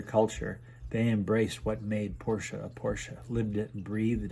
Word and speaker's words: Porsche: maybe who knows remember it's porsche two syllables not one